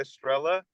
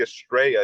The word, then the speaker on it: Estrella: lot of people call it Estrella, but it depends how you pronounce it. So it's actually Estrella. It's supposed to be Estrella, like a star in Spanish, but it's people just call it Estrella.